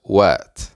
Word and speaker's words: What: Ustedes deben de saber la t de What se va a convertir en una r vas a sonar como una r entonces las tres primeras